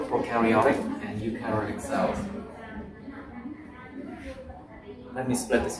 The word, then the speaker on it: eukaryotic: Eukaryotic. Nhưng mà ó nhỉ. The stress is on the ó.